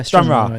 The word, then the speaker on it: Stranraer: Yeah, Stranraer.